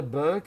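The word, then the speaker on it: berk: My dear boy, do you know what a Burke is in England? I said, "No." What? Well, the way we spell it is not like my last name, but it's pronounced like my last name.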